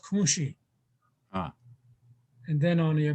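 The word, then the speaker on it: kȟuŋší: But when you talk at patrilineal, when you talk about your father's side, your grandmother on your father's side is pronounced kunshi.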